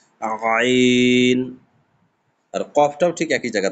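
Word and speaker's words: عين: এইযে আইন উচ্চারণটা একদম গলার কন্ঠনালী থেকে চাপ দিয়ে বের হবে। আইন আইন আর কফটাও ঠিক একই জায়গা থেকে।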